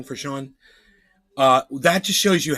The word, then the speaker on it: Sean: That we say that SEAN is pronounced Sean. G-Day mate. I'm like, it's not pronounced Sean, it's seen. Everybody can see that says seen. SEAN. Seen. And yet we all just act like we don't know that it says seen and we call them Sean.